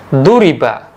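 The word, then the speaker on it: ضُرِبَ: kita ubah cara bacanya menjadi duriba ya huruf awalnya di kasrah huruf yang kedua dan dibaca fathah huruf yang ketiga maknanya berubah menjadi telah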